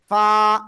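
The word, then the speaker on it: فاء: শিখেছি সে অক্ষরটাই অক্ষর নিচের ঠোঁটের পেট উপরে দুই দাঁতের আগার সঙ্গে লাগিয়ে হালকা বাতাস বের করে আমরা এক আলিফ টেনে উচ্চারণ করব ফা সবাই একসাথে জোরে বলেন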